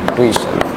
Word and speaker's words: tuition: টুইশন ইটা হবে টুইশন টি ইউ আই টি আই ও এন টুইশন very good যারা যারা টিউশন করো